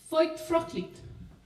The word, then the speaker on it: Feuchtfröhlich: Oh, Feuchtfröhlich.